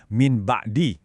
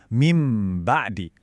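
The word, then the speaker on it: مِن بَعْدِ: Banyak orang secara refleks baca pakai suara N yang keras kayak min ba'di. Nah, itu kurang tepat. Cara baca yang benar dan mengalir itu langsung masuk ke suara M yang ditahan. Jadi, bacanya mim ba'di.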